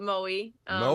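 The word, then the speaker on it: Moe: hometown yeah it's a very small town we pronounce it Mo that's where I kind of spent all mo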